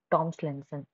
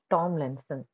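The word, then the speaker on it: Tomlinson: ரே டாம்ஸ்லென்சன். ரே டாம்ஸ்லென்சன். ஓகேங்களா? நெக்ஸ்ட் வந்து சாரி தப்பா ப்ரொனவுன்ஸ் பண்ணிட்டேன். ரே டாம்லின்சன்.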